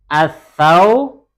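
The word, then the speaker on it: الثوب: Al-thawbu. Benar apa salah? Salahnya kenapa? Huruf ta termasuk huruf taib. Jadi yang benar gimana cara bacanya? Ya, di sini salah ya. Ini salah. Yang benar harusnya as-thawbu, begitu ya. Langsung masuk ke huruf ta dan ta-nya diberi tasydid, as-thawbu.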